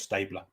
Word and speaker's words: Stabler: That's how it's pronounced. Stabler.